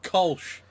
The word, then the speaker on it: Kölsch: So Yes, that- J-Fuck, it's pronounced Kolsch in the UK.